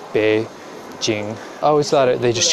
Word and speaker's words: Beijing: just read it as peing and that's how we often pronounced it um and they since changed the pinion which spells out Beijing the way it should be pronounced be Jing I always thought they